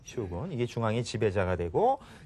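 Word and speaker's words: 将軍: 중앙의 지배자, 그것을 이제 우리말로는 이제 장군이라고 하겠죠. 근데 일본식으로 읽으면 이게 바로 쇼군이 됩니다. 쇼군.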